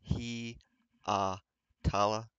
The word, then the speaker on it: Hietala: Marco his last name is pronounced he uh tala um I don't know